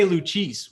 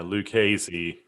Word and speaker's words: Lucchese: I think I used to say Luchis when I first heard it. Luchese. I think that's what it is. Lou Casey. Yeah, Lou Casey is how everybody in Texas has always said it.